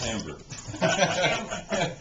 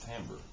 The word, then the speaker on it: timbre: And that's timbre. Most people do say timbre because it's spelled with an I.